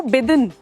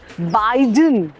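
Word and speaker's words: Biden: लोग बोल रहे हैं जो बिदन नहीं जो बाइडन हिज नेम इज जो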